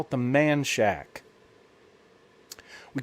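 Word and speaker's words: Manchaca: a town called manchac it is called it is spelled m-a-n-c-h-a-c-a but in Texas fashion uh uh uh Texans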